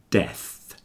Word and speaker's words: death: between dead and death death the second one your tongue is between your front teeth F making that noise but when you say